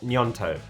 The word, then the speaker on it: Gnonto: and we have nyanto I've watched so many videos on how to say his name please correct me in the comments if I'm wrong I think it is nyanto so anyway he is